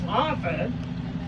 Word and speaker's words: Harford: But being good New England does, they did not say the T, so it was Harford.